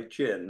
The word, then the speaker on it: jin: to go over exactly what we mean by jin. And first of all, it's spelled J-I-N.